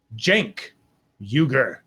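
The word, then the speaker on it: Cenk Uygur: discovered this was yesterday was the day before Jen yuger that's his name I will never pronounce it wrong again because because this is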